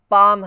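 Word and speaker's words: palm: जैसे ये कार हो गया, फादर हो गया, पाम है, यहाँ पे एल साइलेंट रहता है ना, पाम बोलोगे, स्टार्ट हो गया, इस तरह से।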